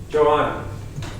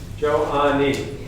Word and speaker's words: Joanni: How do I say your name? Yes. Joanna. Joanni. 3 syllables? Joanni.